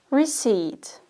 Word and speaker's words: receipt: The pronunciation is the recipe for cooking is a recipe, receipt, receipt.